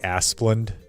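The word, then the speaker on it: Asplundh: I think it's pronounced like Asplund.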